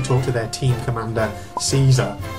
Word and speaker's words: Caesar: So Miho visits them specifically to talk to their team commander, Caesar, or Kaiser if you want to pronounce it in a more historically accurate Roman way.